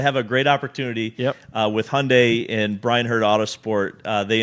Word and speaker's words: Hyundai: You need to say it right. Yeah, it's Hyundai. Hyundai.